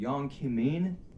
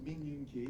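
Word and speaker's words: Min Yoongi: 저 이제 미국 발음을 하면 Young Kimin. Young Kimin이라고 하더라고요. So his name, his Korean name is Min Yoon Ki.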